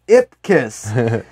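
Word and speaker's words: Ipkiss: you pronounce it yeah very distinct it's just pronounced name as ip kiss cool good i guess he's doing just say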